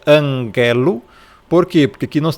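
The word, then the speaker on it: ἀγγέλου: Você pronúncia anguelo. Por quê? Porque aqui nós temos um um gama e esse gama ele não tem som de g. Então não é ângelo, tá? É anguelo.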